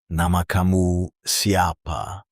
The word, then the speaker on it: nama kamu siapa: To ask someone's name, you say nama kamu siapa, pronounced nah-ma ka-mu si-a-pa.